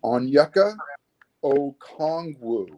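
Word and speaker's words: Onyeka Okongwu: mark how do you say his name it's pronounced on yucca oh kongwoo okay all right i have i have my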